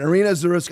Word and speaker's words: Irina Zarutska: Aaron, what do you think about the pronunciation of her name? Irina Zarutska? I think so. Zarutska? Yeah. Irina, you think? Yeah. All right, Irina Zarutska.